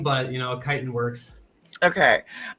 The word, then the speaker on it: chitin: A lot of people call us Chitin, but chitin works. Okay. How is it supposed to be pronounced?